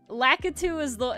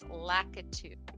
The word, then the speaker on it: Lakitu: Lakitu is how I've always heard like the entity from Mario pronounced. I've never heard it pronounced any other way. Me neither. I've always heard it as Lakitu.